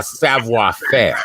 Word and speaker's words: savoir faire: born actor uh rose to international suave uh savoir faire international staff yeah that's how you say it